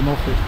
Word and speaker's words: Moelfre: the Welsh pronounce it mul because it's 1 F they pronounce one f as V's so it's mul but I I say mol anyway never me know